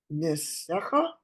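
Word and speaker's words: נִסֶּיךָ: That second, look at that second letter. It's a samech. Nisecha.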